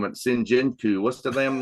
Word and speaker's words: Senjutsu: It Sinjinku. What's the damn name of the last record? Senjutsu.